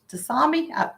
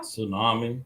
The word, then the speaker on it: tsunami: Tsunami. Tsunami. That's how you say it. You don't put the in.